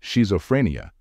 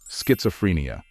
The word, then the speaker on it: schizophrenia: to pronounce it is schizophrenia you are wrong this word is exceptional the combination of letters in this word should be pronounced as ski and the letter Z should be pronounced as T so the correct way